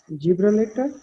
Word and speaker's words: Gibraltar: is there as well, remember that after G, if there is E, I, and Y, we have to pronounce the word soft G, like Ja.